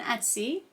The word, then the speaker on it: Etsy: on like an Etsy storefront um you know Etsy takes like a much larger chunk for like